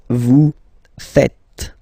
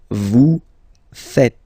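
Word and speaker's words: vous faites: oh no no it's Vu fet Vu fet okay so remember final s here is not pronounced and then this is not pronounced either so fet fet V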